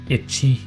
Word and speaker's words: ecchi: Bonus trivia, ecchi is the Japanese pronunciation of the letter H that comes from the first letter of hentai, which in this context mean sexual perversion or pervert.